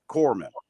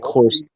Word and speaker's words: corpsman: Corpsman. Yeah. Corpsman. Okay, not corpsman. Corpsman. Right, not corpsman. Sorry. Corpsman. No, definitely not corpsman. Right. Corpsman I said corpse. Silent. Right. Yeah, it's silent.